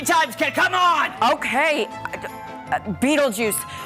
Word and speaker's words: Beetlejuice: Put it together. Beetle juice. That's it. That's right. It's spelled differently, but basically, kid, that's what you gotta say.